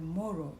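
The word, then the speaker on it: Moru: The tribe is called Moro, M-O-R-U. Sometimes it is spelled M-U-R-U.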